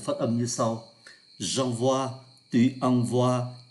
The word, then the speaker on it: envoie: lạ lạ, là bởi bốn vị trí này phát âm là oa, o với i là oa, trong khi hai vị trí là ngôi thứ nhất, ngôi thứ hai số nhiều là oai.